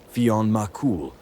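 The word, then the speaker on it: Fionn mac Cumhaill: To speak of Fingle as his name is pronounced in English as opposed to Fon Makul in Newfoundland.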